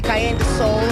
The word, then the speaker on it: Karyendasoul: He taught us how to pronounce it correctly. Karyendasoul and Sunel Musician.